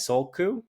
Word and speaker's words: Soulku: Uh Megan Gravit, director of marketing at Soul Coup.